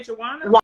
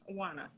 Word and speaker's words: Juana: Did you say Joanna? Juana. Juana. It's Juana.